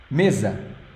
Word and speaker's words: mesa: I'll change paper here miza can you repeat it me this this e here as sound e e m the S sounds like Z okay so it's not this